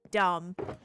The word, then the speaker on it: dumb: it'd be like DAM, dumb. But then that's damn. But then dumb has a random silent B on the end.